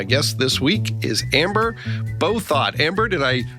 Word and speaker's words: Bouthot: and my guest this week is amber beau thought amber did i pronounce that correctly i am so proud of you you're one of very few in the span of my lifetime as amber both thought that has ever pronounced it correctly so well